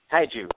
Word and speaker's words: Kaiju: is it cooi how do you say it Kaiju k big battle K big battle KU big